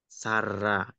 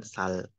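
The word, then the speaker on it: 살아: Jadi bacim L ketika ketemu dengan huruf vokal, maka L-nya itu seolah-olah ada di atas dan menjadi dibacanya huruf R. Sara, gitu ya. Bukan sal.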